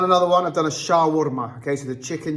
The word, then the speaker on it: shawarma: I'm saying is because everyone else calls it shar. I've been told by my mates that I'm saying it wrong, even though I'm from the Middle East, but it's shawarma. Trust me, it's shawarma.